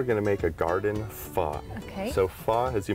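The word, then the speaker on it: phở: The other thing is I'm so excited because I just really learned how to say it. Pho. You got it.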